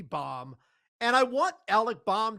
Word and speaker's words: Bohm: Well, I think it's Bohm, but you I mean, it's an H, it should be Bom.